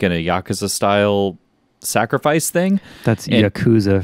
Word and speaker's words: yakuza: so yeah in uh the yakuza as you say it right uh if you said it weird we colored it briefly i don't understand dude you just said it weird now it's yakuza so in the yakuza